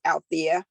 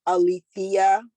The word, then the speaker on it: Alethea: This is a lot of times my name is mispronounced as Althea, and it is Alethea.